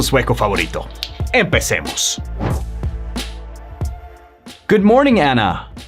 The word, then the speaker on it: Ana: en inglés se pronuncia Anna. Entonces vas a escuchar que la A en inglés, sobre todo en inglés americano, se pronuncia como un Anna, Anna.